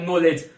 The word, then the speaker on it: knowledge: नॉलेज की spelling भी एकदम इंपॉर्टेंट है, या फिर हम ऐसे बोल सकते हैं इसमें जो के होता है वो साइलेंट होता है, तो इसको भी आपको नोट डाउन करना, KNOWLEDGE, नॉलेज।